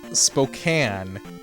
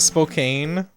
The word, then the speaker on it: Spokane: how it is pronounced Spokane it's not Spokane like a can of soda or pop okay